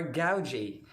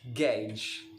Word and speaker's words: gauge: g a u g e gauge some others pronounce this as gauge or gauge but it is very wrong because the correct pronunciation is gauge again it is gauge an instrument in measuring